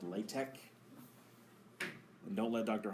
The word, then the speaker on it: LaTeX: in a language called Latch and don't let Dr H tell you otherwise that's how you pronounce it latch not latex he doesn't say that but he says latch nobody says latch latch